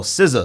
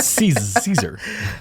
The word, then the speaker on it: SZA: Oh, SZA. SZA. Not Caesar. SZA.